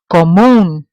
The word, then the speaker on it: común: It ends in an N, so I know it has to follow rule number one, but it's pronounced with the stress on the end of the word, so therefore it requires an accent.